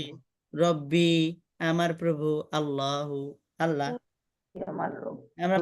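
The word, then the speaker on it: رَبِّي: আনতে হবে উস্তাদ, রব্বি আল্লাহ, রব্বি এই যে বীর পরে তো ইয়া না আসছে, এই যে তাসদিদ আছে তো, মদের হরফের পরে তাসদিদ বা যোজন থাকলে এটা মিলে পড়তে হয়।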